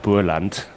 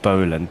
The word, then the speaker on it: Boland: we are automatically well we would pronounce it Bland. I really really really really struggled to say Scott Boland but I will try